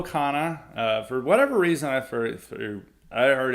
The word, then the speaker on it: Khanna: I'm pretty sure it's Hana, but it might be wrong. Okay, we are never going to call him Hana again. It's Ro Khanna.